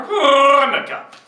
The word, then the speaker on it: Hanukkah: Come on, I want you to meet my extended family for Hanukkah. You got it, Doug. You gotta get the H out. You said for Okay. The H is silent.